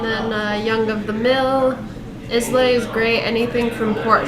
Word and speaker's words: Islay: Islay is great. Anything from Port Charlotte. It's not Islay, it's Isla. It's pronounced Isla. Isla.